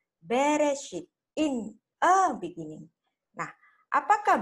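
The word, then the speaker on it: בראשית: Kalau in the beginning, ini bacanya harus dibaca dengan Bareshit. Tetapi orang Ibrani membacanya Bereshit, in a beginning.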